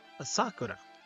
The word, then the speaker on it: Asakura: a load a bull asakura asak what asakura I was saying her name wrong asuro dioko was in